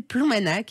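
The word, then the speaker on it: Ploumanac'h: Ça s'appelle Ploumanac, et là, il y a le GR34.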